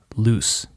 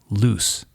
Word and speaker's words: loose: The single and double O actually tell you how to pronounce the S.